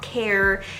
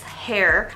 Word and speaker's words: Khair: I know it's not Khair, it's not Khair, it's hair.